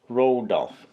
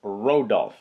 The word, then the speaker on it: Rodulf: It's the Rodulf desk. I hope I'm pronouncing that correctly. Rodulf. Not like the reindeer Rudolph, but it's Rodulf.